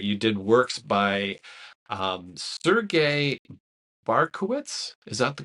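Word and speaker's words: Bortkiewicz: as pronouncing, but you did works by Sergei Barkowitz. Is that the correct pronunciation? Borkovich, I believe.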